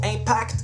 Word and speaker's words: Impact: Prochain battle, Impact contre July. Impact avec un T.